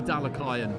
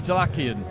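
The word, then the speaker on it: Dalakian: It'd be Dalakayan. Dalakayan. Yeah, from covering the amateurs, we get told, well, in no uncertain terms, I'll always bow to Andy when it comes to pronunciations. Yeah. Well, an English person would look had the cheat sheets for decades. An English person would look at that word, and naturally for us it would be Delakian, as Beterbiev naturally for us is Beterbiev.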